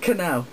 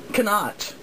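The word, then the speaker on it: Knoch: I don't think so strange name it is and it's spelled strange too it's k n o c h and did you say how Cano okay Cano No but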